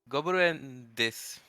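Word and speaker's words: です: Nihon no gobuen desu. Shut the fuck up. Go play the game, you little bastard. Gobuen desu. Gobuen desu. No, it's desu. Des. You don't tend to pronounce it, do you?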